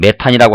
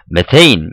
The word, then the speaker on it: 메테인: 근데 사실은 메탄이라고 하는 것이 지금은 그 표현이 영어식 발음 그대로 좀 비슷하게 이렇게 써가지고 이걸 메테인 이렇게 지금은 씁니다.